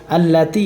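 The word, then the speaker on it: ٱلَّتِي: তাহলে আল্লাতি, তাই আজের তি, এখানে 1 আলিফ টান হবে। কত আলিফ টান হবে? 1 আলিফ টান হবে এখানে।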